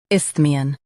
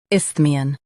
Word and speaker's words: isthmian: Both US and UK have the same pronunciation of this word, ISTHMIAN. Now read the syllables shown on the screen naturally. Isth, me, un, ISTHMIAN.